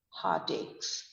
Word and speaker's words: heartache: Now, be careful with the pronunciation of heartache. Ache rhymes with take and make. So the pronunciation is heartaches. You don't say heart-ache since it is A-C-H-E, but it is heart-ache. A-C-H-E becomes E-R-K, heartache.